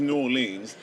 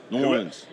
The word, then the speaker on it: New Orleans: had that you need to fly directly to New Orleans just to have that New Orleans oh my bad New Orleans I'm going get